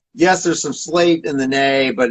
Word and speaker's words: Nahe: my portfolio called the Nahe. That's Nahe. You got the little umlauts above the A, which you pronounce it Nahe instead of Na.